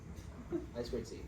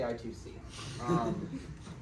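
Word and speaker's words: I²C: so I squared C pronounce i squared C please for the do not say i2c yeah basically it's inter-integrated circuit there's two eyes next to each other so if they're multiplied it's not subtraction I swear um then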